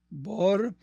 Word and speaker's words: Bohr: y es apellido boh bor es de origen alemán el papá de mi papá nació en Berlín en Alemania Así que heredé el